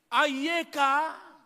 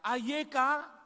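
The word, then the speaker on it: אַיֶּכָּה: kiri ke kanan dan ini berbunyi ayeka Coba katakan bersama saya ayeka ini adalah pertanyaan maka nadanya juga adalah pertanyaan ayekaek nanti kita akan jawab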